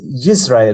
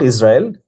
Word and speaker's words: Israel: और इधर, हाँ, इसमें आप जोड़ सकते हो यूरिकी why is Israel, not Israel, Israel, which is the right way to say it, Greater Israel का plan